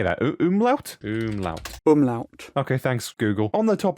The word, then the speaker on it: Umlaut: Umlaut.